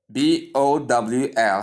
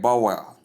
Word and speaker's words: bowl: Most people do call this word bowel. Some call it bowel for those that try to be more civilized in their pronunciation. Please, I want you to know that both pronunciations are wrong. This is the right pronunciation, which is the B sound, the diphthong O, and then the L sound. When you combine them, you have bowl, bowl, bowl.